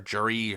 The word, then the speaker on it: Geri: was maryu s sharai or Jerry however you want to pronounce I like pronouncing as sharai but maybe me you know